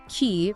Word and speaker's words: qi: Key which is pronouncedqi is the fundamental organizing principle of life in TCM.